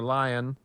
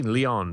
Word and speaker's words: Leon: one from Leon or lion it should be Leon but it's it's it says in the email that it's pronounced like Lion Okay uh salutations my